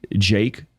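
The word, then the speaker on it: JVKE: not overtly Christian uh Jake which is spelled JV K has some amazing beautiful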